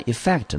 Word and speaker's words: effect: effect 啊，第一个音节呢落在 e 这个地方啊，念成 e f f e c t 这一个音节念成 fact，中音落在第二音节，所以这个字我们就念成 effect。Effect，那 effect 呢？它的词类呢？它是属于一个名词，可以当作可数，也可以当作不可数。我们中文翻成效果。来，我们看英文解释：the result that something brings about。the result